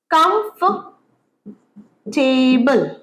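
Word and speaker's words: comfortable: অনেকে আমরা কি বলি? বেশিরভাগই কমফর্টেবল। কমফর্টে খুব কমফর্টেবল চেয়ার। ভুল বই সঠিকটা কি? কমফটেবল।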